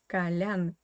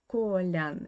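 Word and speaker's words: Колян: is the name kalian kalyan here again you need to pay attention to the russian pronunciation because the stress in the word kalian is on the last syllable and yeah this o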